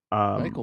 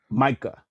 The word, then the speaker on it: Micah: So Michael Myers. Micah. Oh, sorry. Yeah, not Michael. Micah.